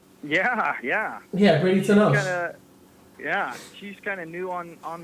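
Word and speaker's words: Bradie Tunnell: Yeah, Brady Tunnell.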